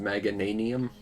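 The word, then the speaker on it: Meganium: quick get his picture oh it's pronounced magananium okay i guess that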